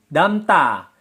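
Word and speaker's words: 담다: Sedangkan damda menjadi damta. Menjadi damta. Bacim miem bertemu dengan konsonan diget berubah menjadi sang diget. Damda menjadi damta pelafalannya.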